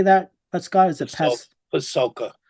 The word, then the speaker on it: Pasulka: Is it Pasulka? Pasulka, best-selling book, American Cosmic.